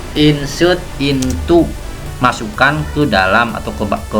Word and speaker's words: into: Nulisnya pakai O tapi dibacanya U. Insert into, masukkan ke dalam atau ke mana.